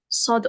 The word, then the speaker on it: صاد: Il y a un prénom, صاد il y a un prénom, par exemple, on dit Sod. Sod. On dit pas Sad, hein, de base en arabe.